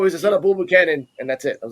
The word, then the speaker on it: Buchanan: I'm gonna pronounce his last name. I'm gonna butcher his last name. Buchanan. You got it. Buchanan, yeah, Bull Buchanan, yeah, yeah, They that's say his dad.